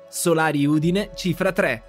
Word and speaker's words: Solari Udine Cifra 3: the holy grail of flip clock in Italian salario Deena chief retrac I'm gonna have to teach Marco how to pronounce pronounced and here we have the clock